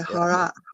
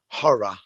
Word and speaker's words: horror: horror and you say horror how do you say it oh my gosh yes we definitely say that different because we pronounce in in american english we pronounce more of that ending r sound horror so yeah so